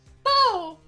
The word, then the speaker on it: Beau: B. Like beautiful. Yeah, but they pronounced it like B. B E A U.